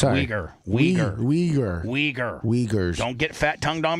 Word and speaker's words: Uyghur: It's Uyghur.